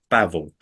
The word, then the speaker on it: Bavill: is the host of History rage podcast bavel welcome hello how are you doing good